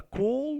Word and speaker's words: cold: It's a cold morning. Cold morning. Here D is silent.